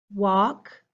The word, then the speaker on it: walk: pronounce them if not think about the shape of your mouth wha ah that tall